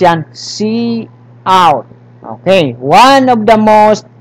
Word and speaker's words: cout: Piga pronounce yan. Cout.